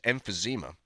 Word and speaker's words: empyema: and the chest wall I thought that was empyema H sure she just didn't pronounce it right wrong yeah well there's no in there it's spelled em P ye m a dang we'd be dying